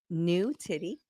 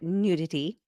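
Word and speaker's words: Nutitty: be more clear uh this is the company new titty Nu TI TT y you can also pronounce it nudity so I think it's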